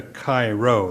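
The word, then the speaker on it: Chi-Rho: body could be a Cairo that's spelled c-h-i-r-h-o an early symbol of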